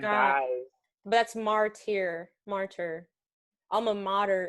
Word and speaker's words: alma mater: dies that's martier martyr alma mater is like there's no r before modern shout out to the